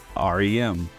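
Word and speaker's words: Ariem: name is spelled a r i e m pronounced r m get it dream world or not it pretty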